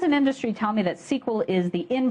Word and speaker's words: SQL: The first thing you might be wondering is how you pronounce it. Is it "SQL," or is it "sequel"? My friends in industry tell me that "sequel" is the in pronunciation, so that's the one I'll be using.